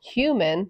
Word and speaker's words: Heumann: Human sounds like the word human, right?